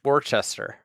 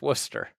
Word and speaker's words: Worcester: Some people will look that up and think it's Warchester, but it's Worcester. It's Worcester. Yes. Yeah, it does look like Warcester. Um but that is not how you pronounce it.